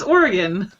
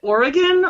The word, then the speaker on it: Oregon: Oregon. Like the instrument.